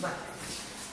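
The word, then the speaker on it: marc: On ne prononce pas le R, c'est pas le mac. On dit ici, on dit mac. Sans prononcer le R, mac de café.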